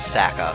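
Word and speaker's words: Sacae: In Japan, it definitely is pronounced Saka, so that's what I'm going to go with.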